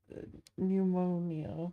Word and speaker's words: pneumonia: Pneumonia. But there's a P, there's an E. Those are silent. English is stupid. Okay, pneumonia.